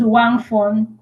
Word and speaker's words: Uwakmfon: Tell me how it's pronounced. My name is Wangon.